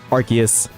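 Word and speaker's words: Arceus: An official Pokemon company employee worker told the voice actor for Cynthia pronounce it as Archus.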